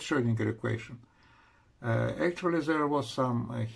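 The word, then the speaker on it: Schrödinger: girl was German scientist oh oh is we pronounce this like Schrodinger equation well Schrodinger equation first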